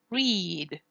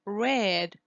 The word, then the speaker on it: read: is pronounced with E read that is in the infinitive in the present tense but the past tense see that it is written in the exact same way but it's pronounced red with a for example